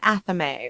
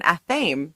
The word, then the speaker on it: athame: So what we're talking about are things like a wand or an athame or an athame, depending on how you want to pronounce that.